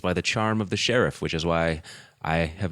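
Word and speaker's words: Sharif: See, when I spell sheriff with two Rs, I it makes me think of Omar Sharief. H. It's pronounced Omar Sheriff.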